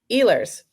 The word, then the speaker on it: Ehlers: Um, Eers. Add a girl. Yeah. Yeah. again. Nicola Eers.